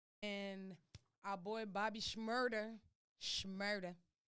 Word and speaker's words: Shmurda: our boy bobby schmurder shmurda my girl was getting on me about not pronouncing the s h and shmurda he came home